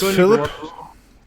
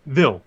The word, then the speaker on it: Vil: all right his name's philip to uh val the iron man if i got your name wrong sorry phil yeah vil okay that's like phil with a v okay vil and i'm